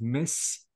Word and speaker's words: missed: The rule is saying again, if the last sound is any voiceless, not voiced, sound besides T, the ending is T, absolutely, I don't have to add any syllable. I mean here, I don't have to pronounce the E sound at all.